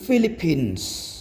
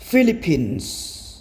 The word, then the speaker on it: Philippines: គឺពសូមស្ដាប់ការបញ្ចេញសំឡេងម្ដងទៀតទីមួយគឺ pភទី ពគឺទី 3 គឺសing ទី 4 គឺ Philippines Philippines Philippines និងទី 5 គឺ Pronounciation Pronunciation Pronunciation reading សិក្សាអំណាច is from Cambodiaសៀងមកពីប្រទេសកម្ពុជានៅក្នុងវីដេអូនេះខ្ញុំសូមលើកយកព័ត៌មានផ្ទាល់ខ្លួនរបស់ស៊ីផេងមកធ្វើការពន្យល់ដូច្នេះសូមស្ដាប់ការពន្យល់ដូចតទៅ